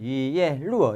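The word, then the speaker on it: 一叶落: 잎사귀 하나가 떨어지면 할 때는 이예 루어 이렇게 하죠.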